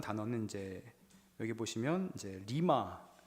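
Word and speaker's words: רמה: 그 구약 성경에 벌레라고 보통 하는 단어는 이제 여기 보시면 이제 리마, 발음이 리마인데요.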